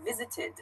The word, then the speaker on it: visited: the verb visited yeah visited so it has an ID sort of pronunciation at the end visited another example is